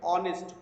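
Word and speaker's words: honest: এখানে যদিও শব্দটি এস দিয়ে অর্থাৎ কনসোনেন্ট দিয়ে লেখা হয়েছে, কিন্তু এইচ লেটারটি এখানে সাইলেন্ট বা উচ্চারণ হচ্ছে না, এবং উচ্চারণ হচ্ছে কিভাবে, অনেস্ট, অয়ের মতো উচ্চারণ হচ্ছে।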